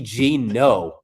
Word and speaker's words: Geno: Don't be Geno. You need to be Geno, like just one syllable, Seattle Geno.